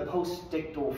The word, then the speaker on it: postictal: Post-seizure phase and the postictal phase. Postictal phase is how that's pronounced.